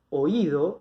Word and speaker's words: oído: Esta palabra, oído, es una palabra grave, porque si cuento 1, 2, la sílaba tónica es la segunda, es grave.